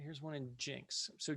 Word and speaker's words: Jenks: borders jinx is a so spelled jenks pronounced jinx this is a one